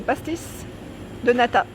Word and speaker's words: pastéis de nata: Les pastéis, comment ça se prononce? C'est pastéis de nata, des nata.